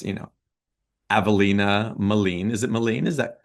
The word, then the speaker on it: Avalina Maline: Um, it's, you know, Avalina Molen. Is it Molen? Is that correct? That's correct. Avalina Molen. I want to make sure I pronounce it correctly.